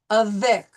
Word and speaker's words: avec: But basically, we're going to pronounce the C at the end of a word. So soc, avec, par, share.